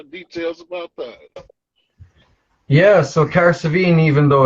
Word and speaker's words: Cahersiveen: Cahersiveen.